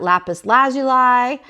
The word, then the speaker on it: lapis lazuli: And depending on who you talk to, they pronounce it a little bit different. So I've heard it Lapis lazuli. I've heard it Lapis lazuli. So I guess you get to determine how you're going to do it.